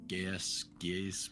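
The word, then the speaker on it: Geas: I'm gonna cast Geese, whatever, however the hell you pronounce that. Geese. Um, It's geese, like honk honk.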